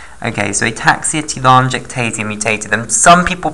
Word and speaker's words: telangiectasia: walk productive on G act easier so ataxia telangiectasia mutated okay and the other one is called